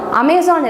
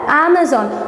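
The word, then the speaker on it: Amazon: பட் ஆக்சுவலாக அதோட pronunciation என்ன அப்படின்னா அமேசான். அமேசான் இல்லை, அமேசான். ஸோ இப்போ எங்கே நம்ம ஸ்ட்ரெஸ் கொடுக்குறோம் அப்படின்னா, இந்த இடத்துல நம்ம ஸ்ட்ரெஸ் கொடுக்குறோம். ஸோ அப்படின்றத நம்ம அப்படின்னு அமேசான்றத அமேசான் அப்படின்னு நம்ம ப்ரொனவுன்ஸ் பண்ணோம்.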